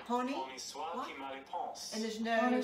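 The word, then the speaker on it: Honi soit qui mal y pense: How would you spell that? Ponce. P-O-N-C-E. All right. Pony. Pony soit qui mal y pense.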